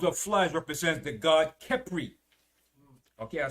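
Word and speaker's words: Khepri: Now the swarms of flies represents the god Kepri. Okay, I'll spell it. It's K-H-E-P-R-I. This was the Egyptian god of creation and movement of the sun. Right? That was the god Kepri.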